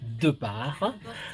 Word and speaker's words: Depart: Il s'agit de Madame Lumène d'Angers-Germain et de Madame Holguine Depart, parce que je vois que Holguine tient à ce qu'on prononce Depart.